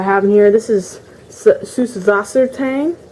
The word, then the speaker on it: Süßwassertang: That's actually how it's pronounced in German. The B, the third letter, is actually not a B. It's actually a type of letter in German that is pronounced S. So it's Süßwassertang.